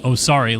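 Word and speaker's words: Osari: he's 853 seconds uh no o s a r i but yes you pronounce it oari like that and then I maybe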